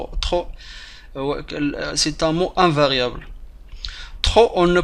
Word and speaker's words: trop: c'est un mot invariable trop on ne prononce pas le thé finale avec l'adverbe trop on ne peut pas prononcer le p on ne peut pas